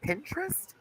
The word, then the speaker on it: Pinterest: It's literally pin and tryst. That. It's two syllables. Pinterest.